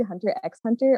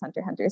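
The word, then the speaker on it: Hunter × Hunter: like is it actually hunter x hunter or is it hunter hunter and i watched a youtube video and they said it's hunter hunter so i'm just gonna say that and i'm probably gonna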